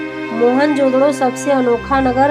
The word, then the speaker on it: मोहनजोदड़ो: की कोशिश करते हैं मोहन जोदड़ो शब्द का सही उच्चारण है मोहन जोदड़ो और सिंध भाषा में